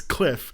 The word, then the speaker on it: Kliph: Cliff is spelled Kliph. That's a very. Oh my god! Yeah. What the fuck? Right, that is a like very odd name. Clifford. It's Cliff. Kliph.